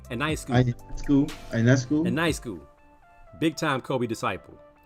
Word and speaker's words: Ionescu: Ionescu.